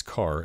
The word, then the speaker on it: char: A char, pronounced by some as car, as in character, is an integer stored as a single byte.